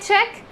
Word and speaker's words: cheque: move on to check and check che ck check and c-h-e-q-u-e check so c-h-e-c-k check means just